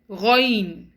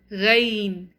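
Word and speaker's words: غين: The correct pronunciation of these two alphabets is ghain. It's not ghain. Khaa. It's not kha. They must be pronounced heavy.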